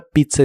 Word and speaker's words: pizza: La primera Z se pronuncia como t y la segunda Z como s.